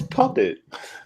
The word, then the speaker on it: PuPHPet: No, it's PuPHP. It's Puppet. It's Puppet.